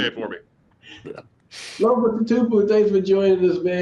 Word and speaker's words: Tatupu: Tatupu.